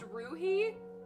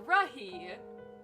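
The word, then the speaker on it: Ruhe: It's pronounced Ruhi, and it means silence in German. Huh. Nice, okay. Ruhi. Or Rahi.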